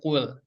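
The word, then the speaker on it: قُلْ: Diawali, ayat yang pertama itu diawali dengan kul gitu ya, dengan kul. Ini nih yang harus teman-teman perhatikan ketika baca kul ini, jangan sampai membacanya malah menjadi huruf kaf nih.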